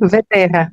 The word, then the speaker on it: Vterra: Agora, o sobrenome é Vetera, não sei se está a pronunciar bem. É isso? Sim, Veterra, Veterra.